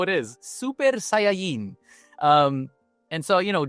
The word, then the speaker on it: Saiyan: So like we we we go Dragon Betta, we go Super Saiyan, which is the right way to say Saiyan in Spanish and in Japanese.